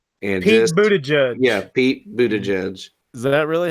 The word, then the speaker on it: Buttigieg: Yeah, Pete Buttigieg, Is that really how you say his name?